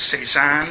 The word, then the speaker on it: CEZANNE: The acronym I give it is Cezanne, and pronounce it that way.